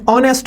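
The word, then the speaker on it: honest: जैसे कि एन ऑनेस्ट मैन, एच is silent in ऑनेस्ट।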